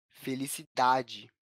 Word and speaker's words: felicidade: Nesse caso, essa palavra é uma paroxítona e não uma oxítona. Isso porque a sílaba tônica não aparece na última posição, mas na penúltima posição da palavra, na sílaba da, felicidade. Percebe? A sílaba da é mais evidente nessa palavra quando a gente fala ela.